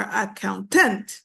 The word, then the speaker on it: accountant: this one is accountant you do not say a accountant or accountant no it's accountant the stress is on the second syllable okay what I want